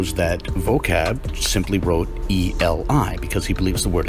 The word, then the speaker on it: Eli: What actually appears in Matthew's text is eta, lambda, iota, which conveys the pronunciation eli. What this shows is that we have an ancient text taking the position that the word is actually pronounced eli.